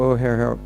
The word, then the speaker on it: O'Hare: He's at the airport, Chicago O'Hare. Has anyone ever been to Chicago O'Hare Airport? O'Hare, it's spelled O-H-A, comma, O-H-A-R-E.